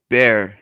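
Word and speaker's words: Bexar: san antonio county is called bear and it's spelled b-e-x-a-r jesus christ why um all right bear county i would just go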